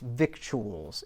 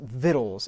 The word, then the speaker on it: victuals: element nourishment provisions vittles now it's not pronounced victuals it is pronounced vittles as a matter of